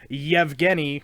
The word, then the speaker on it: Yevgeny: you pronounce my name, Yevgeny. There's no Y at the beginning, but Yevgeny Malkin. And so that's how everybody pronounces it here now because that's the proper way that it's pronounced.